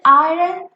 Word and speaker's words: iron: i run i run why is it iron because if we break this rn into syllables the first syllable is i and the second is run so whenever a syllable is ending with the vowel we say the name of the vowel rather it's it's the open syllable rule iron let's break this